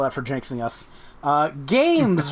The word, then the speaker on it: GAEMS: Games Vanguard personal gaming environment. It's spelled GAEMS, and Tim is a filthy liar because it's on sale for $269.99.